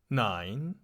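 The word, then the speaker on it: neun: 9. 9. 9. 9. Those are very related. That is clear for everybody to see. You can speak 9 a bit like coin.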